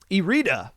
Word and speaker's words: Erita: in group b um erita another team i've learned how to pronounce it's not iride it's e-rita um you would like